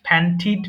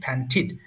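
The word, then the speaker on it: panted: সো একটু বলেন প্যান্ট প্যান্টিড প্যান্টিড আমরা জানি বাক্যের শব্দের যদি শেষে টিডি থাকে তাহলে টিড উচ্চারণ করতে হয় রিমেম্বার দিস থিং দিস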